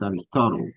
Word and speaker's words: Aristotle: Remember, in English, you don't say the E at the end, Mm-hmm. right? Entonces no es Mm-hmm. Astitolí o Astitolé, es Aristotle. Termina en la L. La Mm-hmm. E nunca se lee al final.